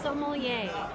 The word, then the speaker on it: sommelier: you know that the raiders have their own sommelier is that how you pronounce it it's pronounced sommelier and what that means it's a wine expert